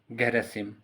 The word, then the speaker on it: Gherasim: मारियम ग्रेजिम MARIAM GHERASIM गैरेसिम, यहाँ SIM है spelling, Romania की।